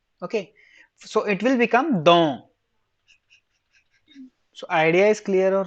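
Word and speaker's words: dent: is there then you will pronounce this as pronounce it as dong okay why don't because first thing is in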